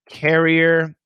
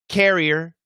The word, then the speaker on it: carrier: So I'll just say them for you guys. Korea. This is American pronunciation. Korea, Korea, career, career, career, carrier, carrier, carrier, courier, courier, courier, curry, curry, curry.